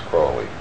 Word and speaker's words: Crowley: My name is Aleister Crowley, because that I am holy. My enemies say Crowley and wish to treat me foully.